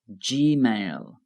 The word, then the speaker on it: Gmail: Notice the pronunciation of G in Gmail. Gmail.